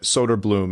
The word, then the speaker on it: Soderblom: it is not perfect because English is a little bit of a best bastardization of what Swedish is but Soder Bloom is as close as you can get to correct for the English pronunciation so englishing it up